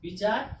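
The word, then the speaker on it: weigh: ठीक, GH क्या हो गया, साइलेंट हो गया, यानी कितना बचा, THOUT, थॉट, थॉट मीन्स विचार या मत।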